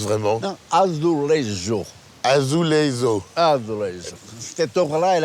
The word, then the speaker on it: azulejo: C'est azulejo. Moi, je dis sous les roses pour faire genre, mais en fait, je fais genre du tout. Je suis totalement nul. Comment non. on prononce vraiment? Non, azulejo.